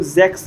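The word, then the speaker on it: sechs: ठीक है, 3 को ड्राई बोला जाता है, 4 को फियर बोला जाता है, 5 को फिन्फ बोला जाता है, 6 को जैक्स बोला जाता है, 7 को जीवन बोला जाता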